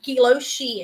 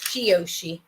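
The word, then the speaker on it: guilloché: I do have Giloshi enamel. Am I pronouncing that right? I don't like the word, guys. No, it's Gioshi.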